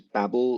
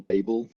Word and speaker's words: Babel: how many people here use babble or babel has different pronunciations depending on who you ask um this is a